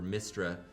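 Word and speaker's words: Mystara: tower of doom and shadow over mystra that's how you pronounce it uh he's probably too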